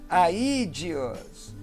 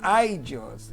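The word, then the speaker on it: ἀΐδιος: Aídeos, e não aidios, é aídeos. E na sequência, nós temos aí apóstrofo, alguns chamam de apóstrofe, né?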